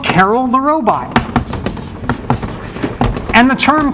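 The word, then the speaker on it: Karel: named after carol and some people say carl which is kind of actually closer to i believe i don't know if there's anyone who speaks check in the room but closer to the actual pronunciation but we say carol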